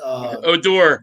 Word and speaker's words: Odor: base, the new guy, Oder or whatever his name is. Odor, but it's spelled Oder.